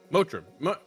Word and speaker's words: Motiram: Mator I'm sure yeah motra mum that's how it's pronounced today it's such a